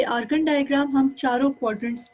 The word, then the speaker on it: Argand: I'm pronouncing every letter only because कि अगर आपको कोई इसमें लेटर समझ में ना आया हो तो पता चल जाए कि कौन सी लेटर यूज हुआ है। ARGAND, आर्गन diagram.